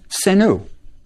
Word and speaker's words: Senu: We have three arrowheads, which looks like a plural, which would have been pronounced Senu.